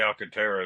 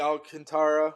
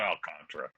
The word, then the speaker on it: Alcantara: If the Yankees get Sandy Alcantara or Anontra, however you say his name, it's not Alcantra. They're missing a vote when they do that. Fuckant shady. If they get the Alcantara of last season, I'm